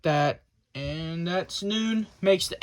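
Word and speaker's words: נון: but it's pretty much pronounced as noon just like the English word noon basically and it's written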